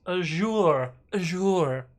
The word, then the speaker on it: Azure: i see um uh it's pronounced as a jour a yeah okay well i say azure because running it off